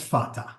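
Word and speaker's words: Fatah: then tier then harakat f a t pronounced in English as fata they're not even hiding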